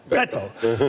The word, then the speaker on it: Beto: You bite it off. Beto.